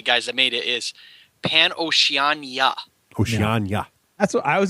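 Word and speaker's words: PanOceania: We need a pronunciation guide here. Okay, so Pan-Oceania.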